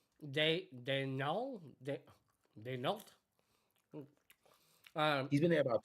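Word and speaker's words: Daigneault: Denault. He's been there about 2 seasons now, right? Denault, right? Denault, yeah. Is that how you pronounce it? French. Yeah, Denault.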